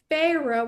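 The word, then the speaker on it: Feyre: I'm like, "Her name," because I'm also very bad with pronouncing words just because I like her name is Phah, which is like fairy, and this is a book about fairies.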